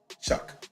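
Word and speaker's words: Shough: Tyler show Chuck. Like he's shucking oysters or whatever.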